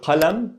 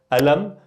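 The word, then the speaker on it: قلم: So we have the word qalam, okay? Qalam, again with the qaf here. So it could be pronounced as an a, glottostop, alam, or galam, okay?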